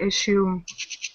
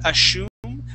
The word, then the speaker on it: assume: Now, this word here, though, that double S will actually be, it will only be an S sound. Yes, sometimes the double S makes an SH, like in pressure. Okay, the word pressure. But this word is not assume, but it is assume.